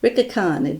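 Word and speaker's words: Licca-chan: how i learned that ricky khan don't you don't pronounce the l and when i saw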